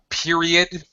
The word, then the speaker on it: period: Period. Period. Period. Period. Yeah, Period. there's a Y sound in there. Yeah. Yeah, in English, never, ever can we have two vowel sounds next to each other.